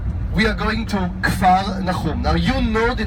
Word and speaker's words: Kfar Nahum: We are going to Kfar Nahum. Now you know the name Capernaum.